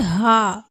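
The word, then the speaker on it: ه: உச்சரிப்பு வெளியாகிறது வாவை இரு உதறி குவித்து வைப்பது போல் உச்சரிக்க வேண்டும் வாவ் வாவ் அடுத்து அடுத்ததாக பார்க்கக்கூடிய எழுத்து ஹா ஹா உடைய மகர்ப் பிறப்பிடம் வந்து தொண்டையுடைய அடிப்பாகத்திலிருந்து ஹா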